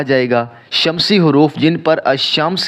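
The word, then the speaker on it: الشمس: मसलन अल कमर और अमस अल कमर में अलिफ लाम अदा हो रहा है लेकिन अमस के अंदर लाम अदा नहीं हो रहा वह साइलेंट है इस बात का फैसला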